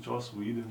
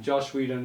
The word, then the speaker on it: Joss Whedon: that's the thing who is the dude that butchered justice league joss whedon josh whedon you're the idiot sir josh that uh josh